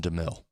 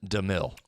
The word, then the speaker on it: DeMille: think I'm a no doubter anything by Nelson DeMille excuse me Nelson DeMille who's he playing got a got a bunch